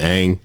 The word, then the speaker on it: Ng: Kim Ang. Kim Ang. All right. Kim Ang. That's how you say her Kim name. Her last name is a little weird because it's just NG. But Kim Ang.